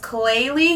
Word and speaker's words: Klaiyi: So I don't want to chop the name up, but I believe the name of the company is pronounced Klaiyi hair.